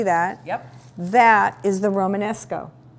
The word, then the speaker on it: Romanesco: Romanesco.